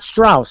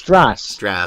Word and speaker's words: Stras: Last name is spelled Stras, not Strauss, because I'm not German. It's Stras.